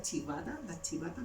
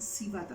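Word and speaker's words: civeta: Y por ejemplo, no sé si ustedes conocen las chivatas les suenan civata, se escribe civata con C, con B corta.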